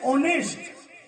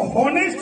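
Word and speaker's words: honest: में नहीं आते, जैसे ऑनेस्ट। अब ऑनेस्ट का जो स्पेलिंग होता है वो एच से शुरू होता है, एच ओ एन ई एस टी, ऑनेस्ट, लेकिन उसको होनेस्ट नहीं पढ़ेंगे।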